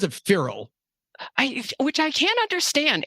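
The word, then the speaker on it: Feral House: I say a lot you I say I pronounce it feral I which I can't understand Adam parfrey who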